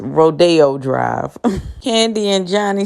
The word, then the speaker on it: Rodeo Drive: And I said, yeah, well, we took a trip down to Rodeo Drive. It's pronounced Rodeo Drive.